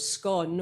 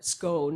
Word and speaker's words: Scone: contains what is called the stone of scone or scone it looks like scone to me but you know way the British and the Americans say speak English is a tad different and the name for